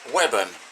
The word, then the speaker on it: Weybourne: is designed to represent Weybourne on the North Norfolk coast. Pronounced Webburn locally.